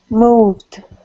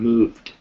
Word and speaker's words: moved: word i just pasted moved very good and why did you give it that pronunciation because the words it ends ends with a v yeah so it has a voiced d sound moved excellent all right and